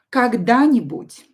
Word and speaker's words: когда-нибудь: Когда-нибудь. So here we will, the stress will be here, so pronounce a little bit longer.